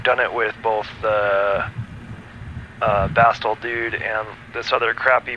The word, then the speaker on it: Bastl: So Schmooster's saying he doesn't pronounce the T. Bastl. No, it's Bastl. Like the Bastl Castle. Like castle. It's like how I say mountain. I don't say the T. You just kind of pause there for a second.